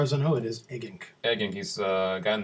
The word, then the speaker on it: Eggink: Brand new from Peter Eggink. Is that how you say his name? Eggink? So far as I know, it is Eggink.